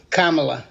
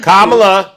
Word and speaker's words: Kamala: you will you use profanity no will you pronounce kamla's name correctly kamla okay that's the start all right uh all